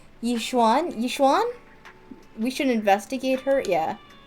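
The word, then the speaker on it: Yixuan: I keep thinking about it and that Miss God she her name was just pronounced Yishuan Yishwan.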